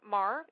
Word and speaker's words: Mar: You're from MAR. M A R. Yes. Yes. You pronounce it right.